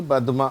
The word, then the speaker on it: பத்மா: இது பத்மா அப்படிங்கிறோம், ஆனால் உண்மையில் இது பத்மா அப்படிங்கிறது தான் இது உண்மையான பெயர். ஏனென்று சொன்னால் இது தமிழ் பெயர் கிடையாது, இது வடமொழி, அதாவது சமஸ்கிருத சொல். அதிலிருந்து வந்தது, அது சரியான உச்சரிப்பு பத்மா அப்படின்வாங்க.